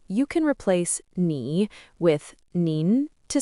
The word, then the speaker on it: 您: The difference is the tone. Nin is more polite and formal, and ni is more casual. So in many sentences, you can replace ni with nin to sound more polite.